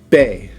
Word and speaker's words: be: That's how you say it in English, but in Spanish it's be. All right, be. And we have a baby right here. So to pronounce it in Spanish, it's bebe.